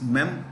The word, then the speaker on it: memoir: memir but when you read the I mean pronounce when you read the word it's mear war is like w a r War so mear is a collection of memories Freedom mear 1954